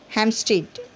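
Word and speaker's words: Hampstead: हैम्पस्टीड, यहाँ पे पी जो है साइलेंट है, देखिए हैम्पस्टीड पढ़ते हैं यहाँ पे, हैम्पस्टीड नहीं पढ़ते, हैम्पस्टीड। ठीक है, क्योंकि ये एम और पी जब आता है तो यहाँ पर पी को साइलेंट किया था, हैम्पस्टीड।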